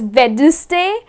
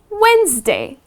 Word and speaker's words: Wednesday: So any people make this mistake, they end up pronouncing it as Wednesday. Well, it’s not Wednesday. It is Wednesday.